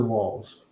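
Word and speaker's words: Walz: the running mate yes is it waltz or walls it's walls walls yeah my Sugar Walls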